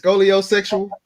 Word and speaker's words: scoliosexual: Is it scoliosexual?